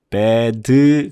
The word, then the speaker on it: bad: bad 그러면 음절이 두 개가 됐습니다. 이거는 음절이 하나예요. 그러니까 미국식 영어 단어의 음절이 하나인데 우리나라 말로 두 개의 음절을 만들면 안 된다는 거.